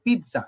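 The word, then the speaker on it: pizza: আবার ধরো আমরা খেতে যাই, যেমন ধরো এটা আমরা খেতে চাই, তো অনেকে এটাকে বলে পিৎজা, পিৎজা না, এইখানে টির জেড এর উচ্চারণটা একটা টির মতো, এটা উচ্চারণ হচ্ছে একটা পিৎজা এরকম, ঠিক আছে।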